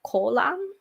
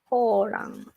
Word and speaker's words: Koran: people like burning the kolan. Is it kolan? How do you pronounce it? Kolan. Koran. Koran. Okay, Koran. I was like, is it L? No, it's R. Koran.